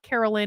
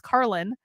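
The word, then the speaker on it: Karlyn: correct them and say it's not carolyn or caroline or karen it's carlin i would really like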